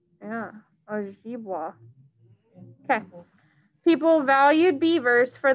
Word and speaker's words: Ojibwa: Ojibwa. Yeah, Ojibwa.